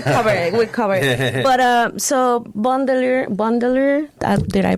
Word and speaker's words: Bon Délire: cover it we'll cover it but uh so Bundeler Bundeler did I pronounce it bondier bundelier um where is this place or for whoever that doesn't know.